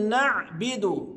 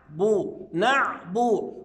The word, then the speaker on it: نعبد: نيجي عند كلمة نعبد، بعض الناس ينطقها خطأ فيقول نعبد، لا. طب أنا بسألك، هي الباء مكسورة ولا مضمومة؟ حضرتك هتجاوبني تقول لي مضمومة، يبقى أقول نعبو، وأحاول إن أجيب صفة التوسط في العين، نعبو، يبقى الباء إيه؟